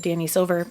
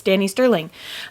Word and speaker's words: Danny Sterling: I always said her name wrong and said Danny Silver. It's Danny Sterling.